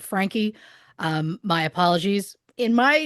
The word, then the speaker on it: Franke: At the end of last week's episode, I said Frank. Obviously, I should have said Frankie.